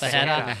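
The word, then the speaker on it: Ferreira: Yeah, it's Fajera. There's no T's in there.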